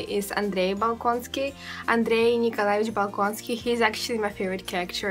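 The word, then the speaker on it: Bolkonsky: the balony family is Andre baloni Andre nikolich bonsky he's actually my favorite character and I think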